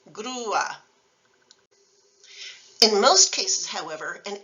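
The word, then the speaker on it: grúa: Another example is UA, which is normally one syllable, as in guapo, but the accent mark on U turns the word crane into two syllables, grua.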